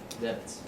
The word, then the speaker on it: debt: good i'll be in debt okay depth but we don't say it like that yep did that right so b is not pronounced in silence that's because